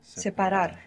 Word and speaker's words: separar: Separación, Separar. Good, separar. Separar. So in English what we pronounce is separate, maybe like an E sound, but if you look at how it's written, it's an A.